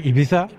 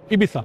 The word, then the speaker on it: Ibiza: Ibiza is between the tongue the the tongue between the teeth if someone doesn't fly from Madrid to uh Dubai but say from Paris to Ibiza Ibiza what would be